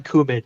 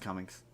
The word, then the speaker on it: Cumming: last name that kin Alan kumin no it's it's pronounced Cummings no no no no